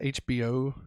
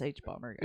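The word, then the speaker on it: hbomberguy: guy yeah okay see I always want to pronounce it HBO yeah it's h bomber guy yeah um but uh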